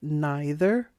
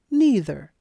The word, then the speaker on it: neither: the park Pro tip you can say either or either it's also true with neither or neither both pronunciations are correct choose one that you like neither nor presents two